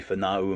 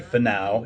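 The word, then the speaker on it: Finau: the KTB and Juicy Fanau. It's not Fanau. Apparently it's Fanau. It's how the announcers are pronouncing it.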